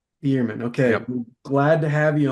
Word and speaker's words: Bueermann: Yeah, it's pronounced Beerman. Beerman.